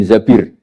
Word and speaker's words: Zabir: Kemudian saya nikah sama Abdurrahman bin Zabir. Di hadis ini bukan bacanya bukan Zubair, tapi zabir. Abdurrahman bin Zabir.